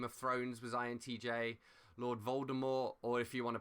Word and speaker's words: Voldemort: thrones was intj lord voldemort or if you want to pronounce his name correctly lord voldemort because he's french basically and said there's a silent t at the end i think tywin lannister